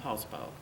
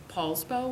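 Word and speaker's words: Poulsbo: So, we moved at that time to, um, PSBow, Washington. Um, what's the name of it? PSBow, Washington.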